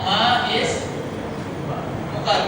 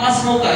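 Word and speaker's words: ما اسمك: Jadi seperti itu seperti kalimat ismuka atau bacanya apa? Masmuka gitu kan. Masmuka bukan ma ismuka tapi tulisannya ma ismuka gitu kan. Tapi kita bacanya masuka.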